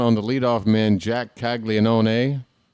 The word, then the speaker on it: Caglianone: All right, it is a 2-2 count on the leadoff man, Jack Caglianone. And that's right, I pronounce his name with every syllable. I don't care. The count is run full on Caglianone, who walked his first time up.